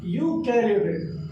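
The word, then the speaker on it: Eukaryotic: एक होता है हमारा, इसमें ई साइलेंट होता है, यूकैरियोटिक।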